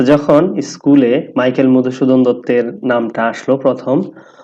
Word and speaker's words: দত্ত: যখন স্কুলে মাইকেল মধুসূদন দত্তের নামটা আসলো প্রথম অনেকেই এটাকে উচ্চারণ করতো দৌ আচ্ছা এটা কি দৌ কখনোই না উপরে যদি মাত্রা থাকে তখন এটা তৈ ত হয় মানে দত্ত মাত্রা না থাকলে তখন